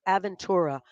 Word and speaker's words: Aventura: in Dade County Marsha I know Joe didn't even know how to pronounce it I don't even know what he said but I'm like it's aventur there's much there's a